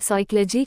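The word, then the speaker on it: psychology: एम N column खंभा एन तथा एस के पहले आया पी प्राया साइलेंट होता है जैसे पीएसएच ए डब्लू शॉट धिक्कार पीएस वाईसी एओ एल ओ जीी वाय साइकोलॉजी मनोविज्ञान पी एनए यू एम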